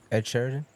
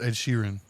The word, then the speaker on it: Ed Sheeran: That's not even how you say his name. Oh, it's Ed Sheeran.